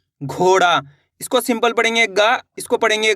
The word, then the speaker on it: ग: इसको अपन ने कैसे पढ़ा का, इसको ख, इस तरीके से गा, कैसे पढ़ेंगे गा, जैसे कि गाय, गमला, गा, नॉर्मल उच्चारण निकल रहा है गमला, गाय, गा, इस तरीके से गा, इस तरीके से पढ़ेंगे इसको।